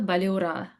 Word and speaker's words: Balyura: You have to like roll the R like Balura.